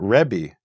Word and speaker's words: Rebbe: So if you listen to Jews today, most of them will pronounce it Rebbe with an eh.